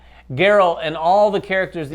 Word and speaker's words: Geralt: We're talking about, I'm going to pronounce it right, Geralt. Not Gerald? Not Jerry. Geralt and all the characters